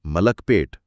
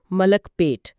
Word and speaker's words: ملک پیٹ: کہ ظفر اکبر صاحب نے صحیح تلفظ بتایا ہے، ملک پیٹ۔ جی ہاں، ملک پیٹ۔ یہ چھوٹی تفصیل بھی